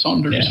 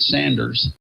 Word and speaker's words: Saunders: The famous Saunders family. That's right. Well, I know they're down in Troutman area. Yeah. So. I used to pronounce it Sanders, and that would make them so upset.